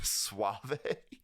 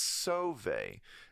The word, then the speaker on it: Sauvé: I think I said Suave, like Rico Suave or something. But I could just never really figure out how to pronounce his name. It was like, is it Sauve or Suave? But it's Sauvé. It's spelled Sauve with like an accent on it.